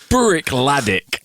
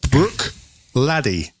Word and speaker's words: Bruichladdich: Bruichladdich, it looks like it should be pronounced Bruichladdich, but I've been watching the film today and it's Laddie. Bruichladdich. Bruichladdich. Bruichladdich.